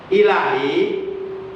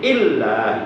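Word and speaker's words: إلهي: Itu lamnya bi ghairi tasdid. Huruf lamnya tanpa menggunakan tasdid, tanpa menggunakan sidah. Jadi membacanya tidak boleh ditaskilkan, membacanya tidak boleh ditekan, tidak boleh diberatkan, tidak boleh disidahkan, tidak boleh begini. Illa itu salah, karena lamnya tidak ada sidah. Jadi bacaannya bacaan tahfidz enteng. Ila, la-nya panjang 1 alif 2 harakat, bi-nya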